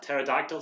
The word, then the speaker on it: pterodactyl: see I can't even read that pterodactyl so he is that silent P dragon man who's also